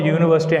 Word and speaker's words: university: Why should I put it is, the reason is because the word university ends with I-T-Y. I-T-Y. When a word ends with the suffix I-T-Y, it takes the stress on anti-penultimate syllable. That means third syllable from the end. U-Ni-ver-si-ti. So there are 5 syllables. If you see the third syllable from the end is V. The third syllable start with the letter V. That's why I put it.